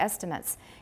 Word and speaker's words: estimates: nevertheless differ in their estimates in the number of syllables. And remember that the noun is estimates, and the verb is? Estimate, yeah.